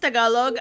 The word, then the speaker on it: Tagalog: It's just Tagalog.